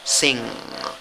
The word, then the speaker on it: sing: Se escribe con cuatro letras, pronunciación con tres sonidos, la I corta, ¿ok? I corta, la N y la G, un solo sonido. Entonces, ¿cómo pronuncia la palabra? Sing, sing, sing, ¿ok? Que te salga la G mezclada con la N, ¿ok?